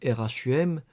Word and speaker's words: rhumb: D 1765 dans un traité d'horlogéographie le mot Rome Rhumb devient en français Rome rhum puisque de toute façon le B ne se prononce pas.